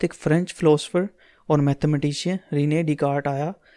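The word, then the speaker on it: René Descartes: फ्रेंच philosopher और mathematician Rinne डीकार्ट आया इसके नेम में साइलेंट है इसको रीड करेंगे रिने डि काड उसने अलजेब्रिक मेथड जो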